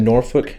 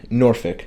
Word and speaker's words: Norfolk: right so we had norfolk norfolk that's how virginia people say it norfolk norfolk but it's spelled north folk okay norfolk versus app